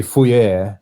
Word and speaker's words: Fourier: But like Fourier, is that how you say it? Yeah, it's. I mean, that's how my dad says it. Yeah. That's how I grew up hearing it. But I believe it probably should be pronounced Fourier.